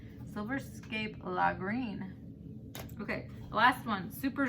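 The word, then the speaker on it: Lagrein: This is pronounced La Green. Silverscape La Green.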